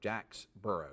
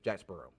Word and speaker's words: Jacksboro: earlier today Jacksboro I my wife says I say it with two sell I say it wrong she saids it sounds like you're saying two word Jack burrow she say Jack's burrow I hope I say it right but anyway I ate